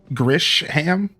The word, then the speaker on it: Grisham: Let's head back to the Looker bureau, Hilian, and try to find out more about this Grisham. The the sh is pronounced Gisham. Gish.